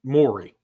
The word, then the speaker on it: Mowry: M-O-W-R-Y. Maori. But they say Maury. They say Maury. Yeah, okay. Like Maury Povich.